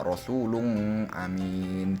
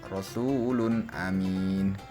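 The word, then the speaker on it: رَسُولٌ أَمِينٌ: kata rosulun amin ya Jadi tidak boleh dibaca rosulum Amin tidak boleh tetapi harus dibaca jelas Rasul Amin kemudian Salamun Hiya yang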